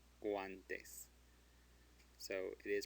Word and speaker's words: guantes: Guantes. Guantes. So it is pronounced because it is between a G and an A.